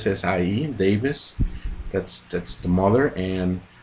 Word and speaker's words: Essie Davis: Jennifer Kent starring uh I didn't pronounce it right AC is Essie Davis that's that's the mother